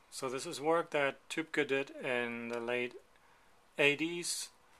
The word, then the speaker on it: Tübke: It's not Tapke, it's Tübke.